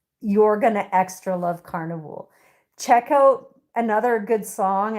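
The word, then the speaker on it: Karnivool: Carnival is spelled K A R N I V O O L. Like carnival but carnival. Carnival.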